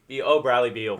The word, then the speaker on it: Bradley Beal: His last name rhymes with seal. Bradley Beal.